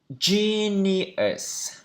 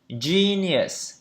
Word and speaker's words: genius: Genius. Genius. Genius. Genius. Genius. Genius. Trọng âm đầu.